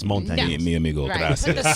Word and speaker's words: Montañez: Richard Montañez. Richard Montañez. Yes, Montañez. Montañez. You can't get that in. Just Montañez. Montañez. There you go. Some people say Montañez, but it's Montañez.